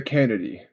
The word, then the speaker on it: Canady: Uh the Canady. The Canady, okay. yeah, Canady. It's like cannabis and candy put together.